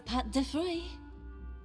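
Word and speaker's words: pâte de fruit: Thanks for the pâté de fruit. That's how you pronounce it.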